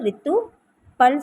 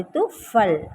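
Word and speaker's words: ऋतुफल: இந்த ஃப வந்து தமிழில் இந்த பா வரும், அதனால் நம்ம உச்சரிப்பு வந்து ப்ரொனன்சியேஷன் வந்து ரித்து பல் சொல்லக்கூடாது, ரித்துஃபல் அப்படின்னு சொல்லணும். இப்போ வந்து ரித்துஃபல் அப்படின்னு சொல்லலாம்.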